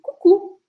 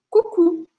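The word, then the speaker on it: coucou: Depois a gente tem o cucu, cucu. Se escreve C-O-U, C-O-U, porque a letra O com a letra U em francês sempre vai ter um som de U. Então a gente fala cucu, cucu.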